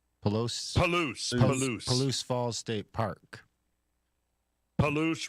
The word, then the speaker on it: Palouse: Palouse rhymes with caboose. Perfect. Palouse. Palouse the caboose.